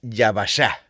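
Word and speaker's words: יבשה: Bien, entonces lo seco viene de yesh y se pronuncia yashá, el yvashá y esta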